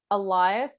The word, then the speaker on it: Elias: That just, like, I feel like it's spelt with an E, but like I just think of like Elias, like alias.